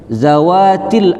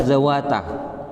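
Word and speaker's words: ذَوَاتِ: Ini bentuknya muannas salim, dalam mansub dibaca kasroh zawati. Saya membacanya zawata.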